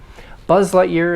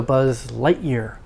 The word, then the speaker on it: Buzz Lightyear: another complexity with compounds okay lightyear means stress on the first one lightyear buzz lightyear is the character's name um family names or last names have more stress than the first name though so buzz lightyear just